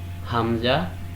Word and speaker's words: Hamza: These 2 letters are pronounced from the first part of the larynx. Its correct pronunciation is Hamza, Ha.